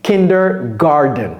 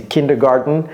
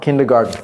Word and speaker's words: kindergarten: Et donc tout de suite, vous voulez mettre un D ici, kindergarten. Mais ce n'est pas correct. C'est kindergarten, mais ça se prononce comme un jardin en anglais, garden, kindergarten.